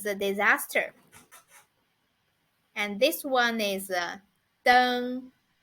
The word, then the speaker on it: 灯: And this one is 灯.